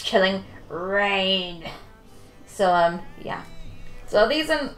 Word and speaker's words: Chilling Reign: Because I thought it was announced as Chilling Region. Because I don't know, I thought the spelling looked like it was said to region.